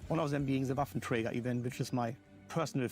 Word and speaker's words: Waffenträger: I should say Waffenträger. That's the only way how to pronounce it.